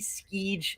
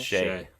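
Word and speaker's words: Skjei: Steven Stamkos, Brady Skeege. Is that how you say it? Skeege? Is that it? Shay.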